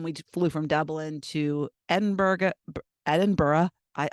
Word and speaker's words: Edinburgh: isn't so it's really Edinburgh Edinburgh but that you know you say it say Edinburgh Edinburgh so it's not burrow it's bruh so that's a little